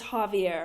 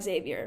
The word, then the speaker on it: Javier: His name is Javier, not Xavier.